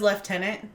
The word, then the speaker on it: lieutenant: think probably not lieutenant you know who says leftenant who Poldark does he yes but of course I say lieutenant so ah it's back